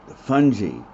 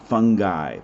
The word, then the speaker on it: fungi: won't say it again but fun gee not fungi fungi somebody invite to a party bungee is the way we really want to say that and again vocabulary and